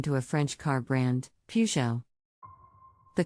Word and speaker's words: Peugeot: pronunciation moving on to a French car brand Peugeot the correct pronunciation is Peugeot with the emphasis on the first syllable everyone have their own versions of the name the most common mispronunciation is pujiat next let's look at a popular French car